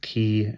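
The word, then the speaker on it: quay: by a listener that that word is pronounced key and and I have to remember that it's key and not Q anyway he spoke a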